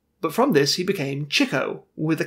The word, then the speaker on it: Chico: But from this, he became Chico, with a K in it.